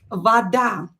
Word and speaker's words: вода: Следующее слово will be вода. Let's see, вода. Вода. Вода. O here is in a weak position. I pronounce it as A because it's not stressed, but how should I write this word?